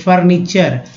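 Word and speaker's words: furniture: तो टी को च भी पढ़ा जाता है, ओ यू एस को एस पढ़ते हैं।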